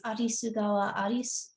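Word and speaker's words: Arisugawa Alice: And there's an author named, in Japanese, it's Arisugawa Aris, but it's phonetically in English, it would be like Alice River is what it sounds like.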